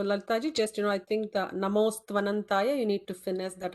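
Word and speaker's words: नमोऽस्त्वनन्ताय: Namostvanantaya stva. Namostvanantaya. Namostvanantaya. Yeah, just that, practice that one particular line, underline it. Stva. So, sa, ta, va, all three together should be pronounced.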